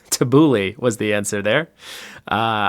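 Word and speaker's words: tabbouleh: this right hold on let's look at the pronunciation tabouli tabouli thanks Google tabouli was the answer there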